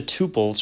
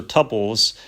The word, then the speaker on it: tuples: now let's jump to tuples or tuples uh I have I you know I've used both pronunciations in the past but really the way